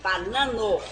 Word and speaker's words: banano: com certeza banano banano oká tem que ser aberto assim banano não aqui na verdade